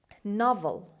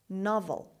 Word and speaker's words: novel: Novel. Novel. Novel. The stress is at the beginning and O here is pronounced as a. Novel.